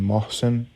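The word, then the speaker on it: Mohsen: M Fed so my first name is spelled om a r Oscar Mary Alpha Romeo and then Mosen uh m o h s n Mary Oscar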